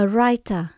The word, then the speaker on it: writer: Ở trong từ writer, mình bắt đầu bằng chữ W, sau đó là chữ R. Khi mà W đứng cạnh R thì chữ W lúc nào cũng là âm câm, mình không phát âm các bạn nhé.